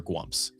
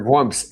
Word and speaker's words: gwump: from several different inferior gwumps. Yeah, inferior gwumps. And the proper spelling for people who want to know, according to me, is G-W-U-M-P. It's gwump, like stump. It rhymes with stump.